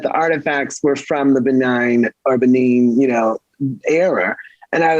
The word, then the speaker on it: Benin: And one of the places was Benin or Benign. I know it's pronounced differently.